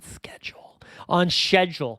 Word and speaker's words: schedule: Before finally getting back on schedule. I like that Brits say schedule. They just skip that C.